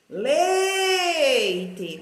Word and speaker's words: leite: Leite. Qual é a mais forte? É o lei, né?